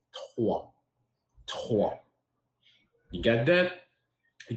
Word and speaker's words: trois: But here in French, we say three, we say trois.